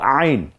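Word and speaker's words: ع: তারপরে 4টা হরফ অন্ত্যেস্তীয়, এটা হলো আইন, গলায় চাপ দিয়ে উচ্চারণ করতে হয়, গলার মাঝখানে আইন।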